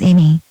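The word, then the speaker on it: Amie: My name is Amy. That's spelled A-M-I-E, which means good fortune among friendship.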